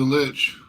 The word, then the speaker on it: lich: called The Soul monitor he's he's just a lich is that how you pronounced it yeah Lynch he is a lich all right so does our guide have any